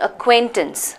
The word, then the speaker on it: acquaintances: and pronunciation acquaintances acquaintances listen to how I'm saying it acquaintances can you give me the syllable break up for this acquaintance how many syllables are there in this word three syllables right at quit tense that's it acquaintances three syllable word which means if you